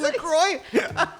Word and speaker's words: La Croix: Oh, LaCroix? That's how you La Croix. La Croix? That's how you're supposed to say it? You don't Is know? that the real pronunciation? Like, it's a French word, right?